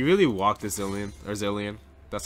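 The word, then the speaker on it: Zilean: sad and he really walked this Dylan or zillion that's how he's pronounced I'm here I'm here - dude yeah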